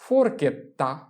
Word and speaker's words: forchetta: forchetta, forchetta, forchetta।